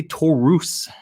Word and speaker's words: Taurus: xl taking on decay i want to say torus is how they're pronouncing the name so black taurus uh